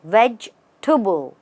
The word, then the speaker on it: vegetable: sounds like tubble and the first part is just vegge veg tubble you stress on vegge and then go tubble let's look at a